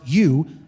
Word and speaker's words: eu: The prefix or the noun, I'm sorry, the adjective you, epsilon in Greek, pronounced you, is the adjective meaning good.